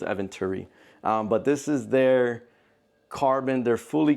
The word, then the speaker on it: Eventuri: It's not Eventuri. I think it's Eventuri.